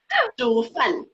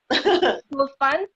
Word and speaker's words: 煮饭: 煮饭. 煮饭? 煮 is cook. 煮饭. 煮. Yeah. Can you spell To it cook phonetically?